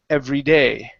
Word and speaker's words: every day: So here we want to stress the word day at the end instead of every. Okay. So here you said so huffing up several flights of stairs every day. We want to say every day. Okay, and stress that end.